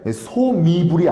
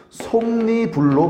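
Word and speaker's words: 솜이불: 예를 들어서 솜으로 만든 이불 발음 어떻게 돼? 소미불이 아니라고 솜니불로 발음해야 된다고. 봐봐.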